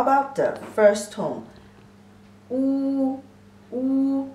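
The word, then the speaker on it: 五: The pronunciation is wu. Wu is third tone.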